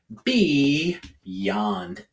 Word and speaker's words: beyond: It might be in the middle of this bigger word, but it becomes at the beginning of that last syllable. So just like a little word inside that bigger word, that Y can make its consonant sound Y at the beginning. So again, this is beyond.